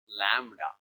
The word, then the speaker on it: lambda: some strange symbol like called lamb pronounced as Lambda Lambda so wavelength is nothing